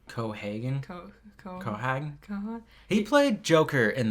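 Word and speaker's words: Keoghan: I don't know how to pronounce his last name. Cohagen.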